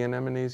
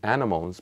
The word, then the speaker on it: anemones: with the tentacles and she called those sea animals because that's how it's spelt so I learned it like that then many years later when